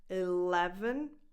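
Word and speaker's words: eleven: Now the stress goes on the second syllable, so on the second E, le, 11. The last one, just like in 7, is the schwa, 11.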